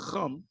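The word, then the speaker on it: חם: It's not hum, it's chum. That's the right way of saying it.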